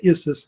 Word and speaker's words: Issus: The three big battles were Granicus, Issus, they say Issus, that's how they say it, and then Gaugamela.